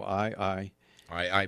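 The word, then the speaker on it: ʻAeʻae: my new property but I want to grow i-i-i-i banana yeah okay it's one that the high captain it's spelled a E - a E and it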